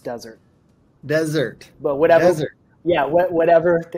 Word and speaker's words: Dessert: great question yeah it's it's spelled dessert but pronounced desert desert but whatever yeah